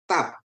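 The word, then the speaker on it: תו: Tap ya. Ini aksara terakhir, tap ya Bapak Ibu ya, tap. Pengucapannya seperti Anda melafalkan kata tarian, transliterasinya T ya.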